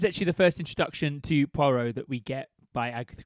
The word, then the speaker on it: Poirot: It's kind of like, I think it's pronounced Poirot. Is it? Yeah. Are you being serious? I actually don't know, because I don't know how it's pronounced. It's Poirot, isn't it? Okay, good. It needs to be Hercule de Poirot. Okay, It would be more like cool. Poirot, but Okay. Poirot with a little r.